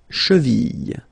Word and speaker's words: cheville: La cheville. Remember, double L like that after I, cheville.